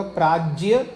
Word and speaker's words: प्राज्ञ: प्राज्ञ और प्रज्ञा जी। पहले तो उसका प्रोनाउंसिएशन ये होगा प्राज्य और प्रज्ञा।